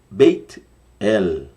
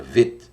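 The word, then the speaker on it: בית: de amarelo tá aí a palavra Bet ou beit aqui pronunci beit tem um iod aí dar um som de i e beit ou veit H quem diga Vet Olha é muita pronúncia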